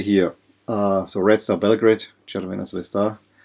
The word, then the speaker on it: Crvena Zvezda: The odd thing is that this jersey here, so Red Star Belgrade, Crvena Zvezda, I hope I say it right, at least this is how you would say in Bulgarian.